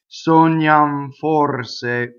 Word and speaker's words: sognam: Sognam forse. Okay? So this N ends up sognam. If I were to linger on it, right, that would be wrong.